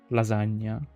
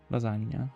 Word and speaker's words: lasagna: Lasagna. Lasagna. Lasagna. Guys, guys, lasagna. It's lasagna. Please pronounce it correctly because otherwise you heard an Italian and Italian is me.